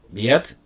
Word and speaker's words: Wied: Bueno, pues ese ha sido el relato de Gustav Biet. Ya sabéis, se escribe con W.